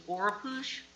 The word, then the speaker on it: Oropouche: new mosquito virus in the state, which is Oropouche.